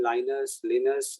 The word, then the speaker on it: Linus: So people call him Linus, and back home, I think he's in a Helsinki. So he's a Greek guy. He's not a Swedish guy. Sorry. So his actual pronunciation for his name is Yunus, and he's least bothered about pronunciation of his